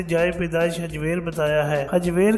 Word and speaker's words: حجویر: پیدائش حجویر بتایا ہے۔ حجویر کا تلفظ عام طور پر زبر کے ساتھ کیا جاتا ہے جبکہ اسے پیش کے ساتھ بھی لکھا جاتا ہے۔ آپ کے سن ولادت